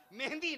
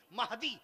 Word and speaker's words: مہدی: مہندی نہیں، مہدی، یہ صحیح تلفظ ہے۔ میں عرض کر رہا